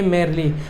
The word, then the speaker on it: merely: Structure लेके आया हूं, जिसकी राइट प्रोनाउंसिएशन होती है मेरली। जी हाँ, सही सुना आपने, मेरली।